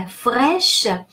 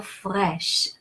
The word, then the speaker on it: fraîche: And the fraîche, A-I in French is pronounced e, like in the word egg, like the English word egg.